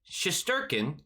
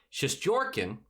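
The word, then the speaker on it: Shesterkin: go well for him schusterkin or as correctly said because my friend tia told me to say it correctly shish jorkin york is in there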